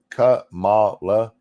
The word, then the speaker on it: Kamala: Gods, I hate that pronunciation. It's Kamala. She's not even remotely black. And look, I went back and looked, and everywhere that I can find her saying it, she does say it Kamala.